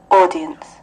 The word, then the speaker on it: audience: Anh nó sẽ đọc là audience. Audience. Nó tròn cái môi lên một chút xíu.